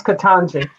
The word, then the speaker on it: Ketanji: It's Ketanji. I'm sorry. That's our I'm first. sorry if I You mispronounced that.